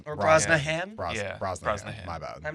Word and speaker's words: Brosnahan: Rachel Brosnan. Or Brosnahan? Brosnahan? Brosnahan. My bad. I'm not good at pronunciations.